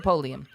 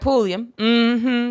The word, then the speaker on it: Pulliam: pullman what is it did i say it wrong that's it i said polium i'm sorry solroy keisha night pulliam this is why i